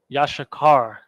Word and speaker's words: Yashakar: I understand you understand Yash Shah and then Carr yashakar now this one's a bit tricky because you got the yah and then you have the Shah Yash but aside from that sh at the end the Yash you also have a Shah by itself Yash okay then you have